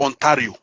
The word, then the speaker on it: Ontario: It's pronounced Ontario.